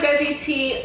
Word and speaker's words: Desiitee: Okay, so I am Desiitee, also known as Desiree, also known as Des, also known as her best friend, also known as her bag.